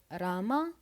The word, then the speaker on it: Rama: And then the name of the god Rama is read as Ram.